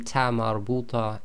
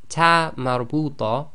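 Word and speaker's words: تاء مربوطة: And the reason for that is sometimes this TaaMarBooTah behaves as the normal ta, and sometimes it will behave as the soft ha.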